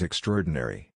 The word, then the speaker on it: extraordinary: they are pronounced as extraordinary the ah disappears you also have the